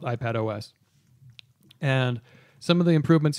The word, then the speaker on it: iPadOS: iPad OS. Yes. iPados, I think is how you pronounce That's correct.